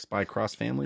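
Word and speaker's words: Spy × Family: It's Spy X Family, like Spy Cross Family? Or Yeah, something? but I've never heard anyone pronounce the X or Okay. cross, so I stopped doing it. Spy Family.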